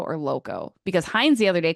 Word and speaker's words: Lauko: but it's spelled Lauko, I would say Lauco. I've only ever right? heard Lauco.